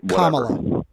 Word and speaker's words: Kamala: Uh, so what I want to ask you about, pronounced Kamala. Kamla Harris.